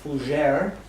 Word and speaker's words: Fougere: a surprise is fujer of d2 inc correct that's correct yep did i pronounce it correct yes you did yeah i'd pronounce it the french way yes okay how do